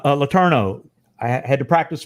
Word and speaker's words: Letourneau: all right all right so next is Scott Latonia Letourneau I had to practice pronouncing your name Scott Letourneau is a master at connecting the intricate dots between the u.s.